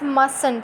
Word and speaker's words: mustn't: Okay, it is not mustn't, it's mustn't. Okay, mustn't, T is silent.